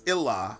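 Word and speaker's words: إله: In Arabic, God without a major G pronounces Ilah.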